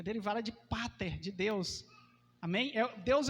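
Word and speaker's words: πατήρ: grego sabe o que sabe como é que ela é pronunciada é Pater e essa palavra família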